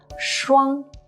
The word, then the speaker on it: 双: And when we have two 又 side by side, again and again, it's pronounced as 双.